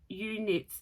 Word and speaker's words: eweknits: But it's from, and I'm going to pronounce this, eweknits, E-W-E, I'm assuming is U, that's how we would pronounce it. So eweknits.